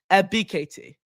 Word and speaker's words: Ebiketie: So Arnold Ebiketie. That's how you pronounce his name.